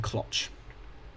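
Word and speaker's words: clox: I pronounce the name like C-Locks, but you can say it's clocks or even clotch. Clotch is insane. Where you pronounce the X like the Greeks do.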